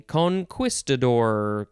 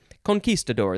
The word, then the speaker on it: conquistador: next word is conquistador you could say conquistador because that's how it's spelled but that is uh more an american way to say it because a lot of americans don't know spanish conquistador that's how it's pronounced conquistadores would be plural